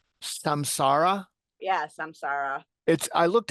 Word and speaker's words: Samsara: Am I pronouncing this correct? Samsara?